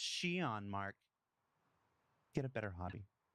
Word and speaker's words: Xi'an: And if your instinct was to stop the YouTube video and go immediately to comments and say it's pronounced Shion, Mark, get a better hobby.